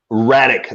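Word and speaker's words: Rakić: Alexander Radek. That's how you say it.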